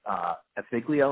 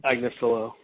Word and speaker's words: Agnifilo: How did Raniere is primarily represented, at least so far, by Mark Afiglio? Am I pronouncing that right? Agnifilo.